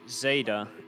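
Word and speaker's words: Zaida: I've been told in chat it's Zada, Z-A-I, and then D-A is how you pronounce it.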